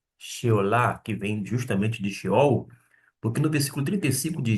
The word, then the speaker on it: Sheol: aqui foi traduzido, mas a gente tá pronunciando como Sheol, a partir do hebraico, "quem te louvará?"